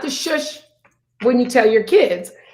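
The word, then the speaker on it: schuss: but it wasn't that shush it's spelled c-h-s-s-c-h-u-s-s pronounced shush or shoot it's a straight downhill run on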